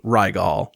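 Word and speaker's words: Rygel: And they spell it r y g e l, but it's pronounced Rigel.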